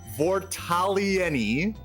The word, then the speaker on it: Vortaliani: There's going to be let me see if I can pronounce this right. Vortalieni. It's like you gotta pronounce it like Italian. Vortalieni.